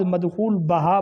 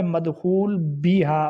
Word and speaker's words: مدخول بہا: بستری ہو چکی ہو، اس کو بعض مدخول بہا پڑھتے ہیں، یعنی با کے اوپر زبر پڑھتے ہیں، حالانکہ با حرف جارہ ہے اور ہا آگے ضمیر ہے، درست لفظ ہے مدخول بیہا، با کے نیچے زیر۔ سویبہ، یہ وہ باندی